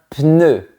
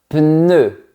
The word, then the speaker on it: pneu: Premier mot difficile, un pneu. On passe du son P au son N. Un pneu.